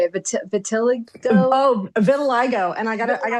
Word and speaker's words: vitiligo: Vitiligo?